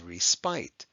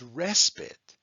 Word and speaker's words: respite: Now you might be looking at that and saying, oh, that says respite. But actually, no. That word is respite.